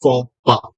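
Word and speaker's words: faux pas: one term that is forpa f a u x p a x but the pronunciation is pa it is p a sa p forpa means a cultural mistake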